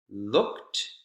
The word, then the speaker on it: looked: well explained explain it looked one syllable looked this is an example of ed taking the case kt sound right rather than adding a syllable we actually add consonant